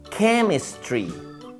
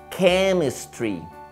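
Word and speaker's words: chemistry: tienes que estudiar más química se dice came Street came Street Ay pero se escribe Exacto pero lo pronuncias can Street Ah qué bien Mira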